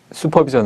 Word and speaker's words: 슈퍼비전: 다시 한번 정리하면 아 저는 표기는 공식 표기 한글의 맞춤법은 슈퍼비전 인데 발음은 수퍼비전 으로 하겠구요 용어는 수퍼바이저 슈퍼바이저 지